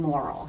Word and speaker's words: Morrill: He on Twitter is at Jim Morrill, and it's pronounced Morrill, like not immoral, but moral, but it's Morrill.